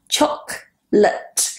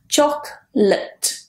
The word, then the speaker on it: chocolate: Chocolate. And notice that second one. It's not late and it's not lat and it's definitely not latte. Chocolate.